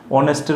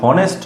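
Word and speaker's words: honest: অনেস্টের উচ্চারণ যদি অনেস্ট না হয়ে হনেস্ট হতো, তাহলে কিন্তু আমরা এ বসাতাম।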